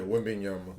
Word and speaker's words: Wembanyama: Yeah, Wembanyama. Wembanyama just got drafted number 1 overall in the NBA draft. How do you how do you feel about, or what do you think about Wembanyama, and how do you feel like he's going